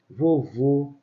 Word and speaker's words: vovô: o Tim fechado você vovô caratê então repare quando eu falo vovô e vovó tá vovó acento agudo timbre aberto vovô assento circunflexo ele tem um timbre fechado então gravem bem essa